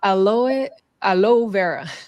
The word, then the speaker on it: aloe vera: So this is about the conspiracy about aloe vera. I know in English they don't pronounce the E.